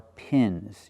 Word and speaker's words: pins: And these are pins. Use the i sound like this is.